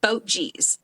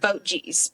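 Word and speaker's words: Boetje's: Chicago but it's called boat G's and it's spelled b o e TJ e but they pronounce it boat G's but it's just one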